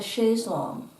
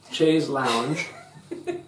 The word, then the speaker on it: chaise longue: it's a long chair it is not to be pronounced Chase Lounge which is a terrible American mispronunciation although that is still